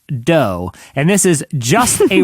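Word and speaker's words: Dō: of course, and it's spelled D-O with a little line over the O. Evidently, that means it's pronounced dough, and this is just a raw cookie dough restaurant.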